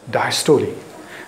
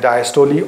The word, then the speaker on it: diastole: The contraction is referred to as the systole, and the relaxation is known as diastole. The systole and diastole, or systole or diastole, as you may pronounce it.